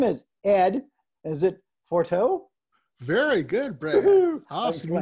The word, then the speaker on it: Forteau: a while his name is ed is it forteau very good brad awesome you nailed it i